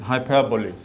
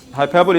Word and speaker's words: hyperbole: in other word hyperbole this is how you pronounce it hyperbole hyperbole is an exaggeration I think there's too much